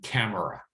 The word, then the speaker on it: camera: that they'll recognize that when someone says camera, they really mean camera, but they have reduced that middle syllable.